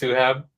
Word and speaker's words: Suhaib: Mine is pronounced Suhaib. The I always throws people off, so it's not a big deal at all.